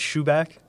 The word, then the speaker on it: Schuback: name which is fine it's shoeback shoeback but it's spelled s-c-h-u-b-a-c-k okay so i made